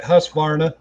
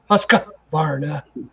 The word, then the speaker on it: Husqvarna: guess I should pronounce that right. Husqvarna. Always No put on the it. Husqvarna.